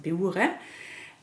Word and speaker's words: Bore: It's not pronounced Bore, it's pronounced Bore.